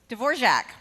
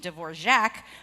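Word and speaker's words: Dvořák: And because I know that the composer pronounces his name Dvorak, I'm assuming, and therefore inferring, that Dvorak is the correct pronunciation for it.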